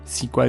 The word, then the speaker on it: SQL: lat siedemdziesiątych ukazał się SQL czy też sequel jak niektórzy wymawiają jego nazwę język służący do projektowania